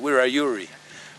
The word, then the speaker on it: Wiradjuri: We call it Wiradjuri now, but that's how non-Indigenous people can pronounce it, see. But in our language we call it Wiradjuri, which means having and know.